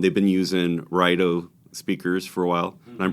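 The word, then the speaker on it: Raidho: beautiful it's an engaging sound they've been using rido speakers for a while I'm pronouncing that right cuz I was in Denmark and say it's Ral just is so Punchy and Lively and dynamic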